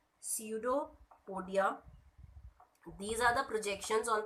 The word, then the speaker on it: pseudopodia: हैं, इस सीडोपोडियम ने, this P is silent, pseudopodia, these are the projections